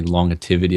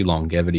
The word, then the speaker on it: longevity: And it just comes out of me longivity. I don't even It's probably wrong. It's actually longevity.